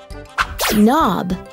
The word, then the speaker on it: knob: But I know there are some words that start with the letter K, but it is silent, almost as if you are not there.